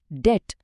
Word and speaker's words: debt: DEBT को बोला जाता है डेट, DOUBT है डाउट, और SUBTLE, जिसका मतलब होता है नाजुक या बारीक, उसे कहते हैं सटल।